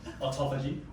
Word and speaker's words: autophagy: and you really believe in how do you pronounce it? Autophagy.